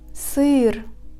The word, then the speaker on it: сыр: The letters A, O, U, U, E after these consonants indicate that these consonants are pronounced firmly. For example, сыр. The letters Е, Ё, И,